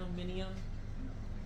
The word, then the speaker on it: aluminium: always pred it um aluminum the Brits pronounce it Al aluminium which makes no sense because there's no extra letters but they're weird about